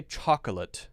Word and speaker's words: chocolate: chocolate chocolate chocolate chocolate some people say chocolate chocolate most people say chocolate chocolate two syllables all right I am